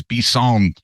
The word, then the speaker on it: bison: French for bison is bison that would totally Mak sense yeah yeah it's same same spelling just different yeah yeah it's just B emphasis on the final syllable in the French way I yeah um I